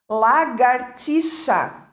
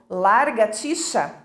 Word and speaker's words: lagartixa: é e pronunciando erradamente lagartixa erradamente e nada como largaticha é muitas pessoas falam largaticha mendigo que a professora também